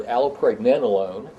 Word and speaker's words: allopregnanolone: The other thing is, I want to show off here, I've learned how to pronounce this word, allopregnanolone, and this is a steroid hormone.